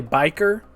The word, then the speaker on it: bichir: kuier biker um and by the way biker is spelled b i c h i if you want to